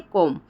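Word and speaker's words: comb: हैं जैसे कि है कोम ठीक है कोम जो होता है देखिए अब यहां पे ब का उच्चारण नहीं हो रहा है कोम ब नहीं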